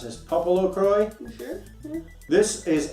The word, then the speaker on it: PoPoLoCrois: Popolocroi. You sure? Yeah. This is an import. If Cool. I'm to judge by the Japanese on the spine, which says Popolocrois. Oh, I guess you pronounce the S. Popolocrois.